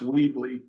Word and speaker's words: Weebly: That's spelled one word, East Amwell VIP dot, I think it's pronounced Weebly, WEEBLY. Yeah, Weebly.